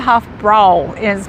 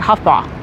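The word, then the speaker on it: Hofbräu: I pronounce it Hofbrau, and it's spelled Hofbau because it's German. So the correct pronunciation is like Hofbau or something like that.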